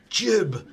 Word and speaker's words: GIF: It's pronounced jib.